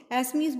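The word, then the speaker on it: Assamese: Speak this language में आसमीज़, ठीक है, असामीज़ या एसमीज़, एसमीज़ बोलते हैं बेटा, उसको एसमीज़ प्रोनाउंस करेंगे।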